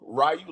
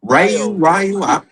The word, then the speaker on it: Ryo: Ryu like for Street Fighter, nigga. This is Ryo.